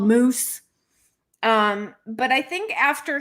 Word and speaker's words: Moos: it was originally pronounced mose right in germany for moses oh really interesting yes but here in the u.s just people see m-o-o-s and pronounce it like the animal not a bad animal